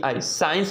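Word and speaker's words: science: कोई भी दिक्कत नहीं साइंस पढ़ते हैं ना तो यानी सी के यानी एस के बाद है सी आया इसलिए 100 ठीक है ना सी को साइलेंट पढ़े हैं ठीक है ना साइंस ठीक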